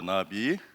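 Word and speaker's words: נביא: 어원학적으로 고찰할 필요가 있는데, 히브리 예언자를 히브리에서는 나비라 그래요. 나비. 이거를 나비라고 읽습니다. 영어로 쓰면은 나비. 장모음이니까 이렇게 쓰죠.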